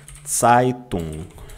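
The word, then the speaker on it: Zeitung: Pronúncia, tá? Titung.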